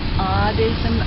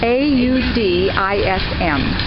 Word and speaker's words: audism: Audism, O-D-D? A-U-D-I-S-M. And not A-U-D, not autism. Right. Audism. No, I don't know it.